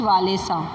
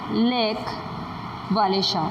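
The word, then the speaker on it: Lech Wałęsa: ऑफ the shipyard लेच वालेसा, underline this, यही वो person है जो आगे चल के पोलैंड की हिस्ट्री चेंज करने वाला है, ठीक है। इट is pronounce लेक वालेशा।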